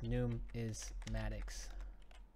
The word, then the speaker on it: numismatics: builder for the numismatics it's pronounced like this new is Maddox freshly minted ms70 coins